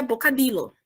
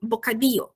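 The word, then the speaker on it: bocadillo: primeira na primeira aula que esse LL a gente português viria boca Lilo mas em espanhol a gente encara na pronunciação esse LL como ir então a gente tem um bocadinho então quando a gente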